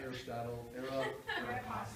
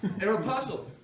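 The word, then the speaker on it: Aéropostale: And you say, oh my God, I don't want to pronounce it wrong, not Aristotle, Aeropostale.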